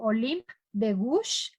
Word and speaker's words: Olympe de Gouges: no sé francés, pero es algo así como Olympe de Gouges. Si lo pueden, es Olympe de Gouges, así se escribe más o menos.